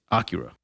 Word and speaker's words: Akira: So it's like we were throwing the accent on the last day, or like Akira. It's on the first day. It's Akira.